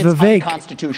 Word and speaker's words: Vivek: that said if Congress didn't delegate that to an administrative agency, my name is Vivek, rhymes with regulate, which also rhymes with don't regulate.